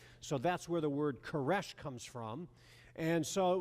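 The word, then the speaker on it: Koresh: he used the new the Old Testament Hebrew pronunciation of the of the name Cyrus. So that's where the word caresh comes from.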